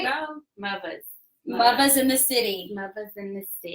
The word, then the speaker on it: Muvas: But we're Muvas and shakers as well.